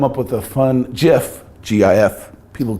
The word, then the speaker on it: GIF: If you can come up with a fun GIF, G-I-F, people pronounce it GIF, but it's really GIF.